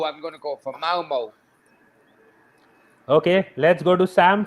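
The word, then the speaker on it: Malmö: going to go for malmo okay let's go to sam for the next one oh look at some giving it bloody correct pronunciation i know i know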